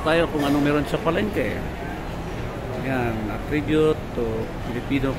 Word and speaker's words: Palenque: Dito ako ngayon sa Palengke, no? Pronounce po ito as Palengke, no? Parang market.